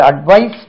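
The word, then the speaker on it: advice: கூறு ஏடி விஐ எஸ் இதை ரெண்டுக்கும் உச்சரிப்பு வித்தியாசமாக இருக்கிறது இது அட்வைஸ் இஸ்ல முடியும் இது அட்வைஸ் z-ல முடியும் இதுக்கும் இதுக்கும் மாத்திரைகள் வித்தியாசம் இது வந்து இஸ் சுருக்க வேண்டும் இது கொஞ்சம் எலாங்கேட் பண்ண வேண்டும்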